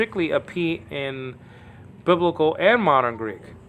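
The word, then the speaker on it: π: and it was called Pi in that film great film but it's not supposed to be pronounced Pi just pronounce it P okay like the English p so you'll see this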